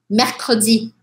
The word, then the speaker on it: mercredi: Temos dois sons de R e provavelmente o que